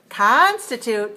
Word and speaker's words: constitute: is weak commercial but for the word constitute three one we have to open our mouse for the sound ah as in con con constitute right okay how about